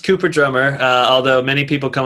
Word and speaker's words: Coop3rdrumm3r: landing page with the threes so uh it's pronounced cooper drummer uh although many people come up to me they're like oh hey you're you're coop 3r drum 3r and i'm like well you know that's close